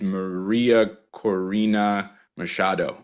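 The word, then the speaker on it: María Corina Machado: Her name is Maria Corina Machado, I think is her name. That's pretty good, Rich. Yeah, the pronunciation.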